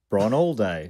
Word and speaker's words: Bron Alde: Correct pronunciation. Oh, Bron all day.